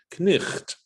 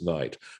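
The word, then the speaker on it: knight: Beth and say that if you look at the word how we spell night, K-N-I-G-H-T, the G-H implies the German ch, and it used to be probably pronounced knicht, okay? But what happened in the course of time is that it became elided, and so we just pronounce it as night.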